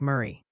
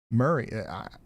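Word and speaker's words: Maury: Chat's confirming Maui County is pronounced like Murray. Just FYI. Murray. I said Murray, didn't I?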